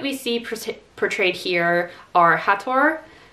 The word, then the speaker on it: Hathor: osiris horus and tefnut i particularly liked how they did the pronunciation of hathor and isis because i don't know about you but for the majority of my life i pronounced that as hathor and isis and i think they might have changed east because of the similarity to a certain terrorist group but aside from that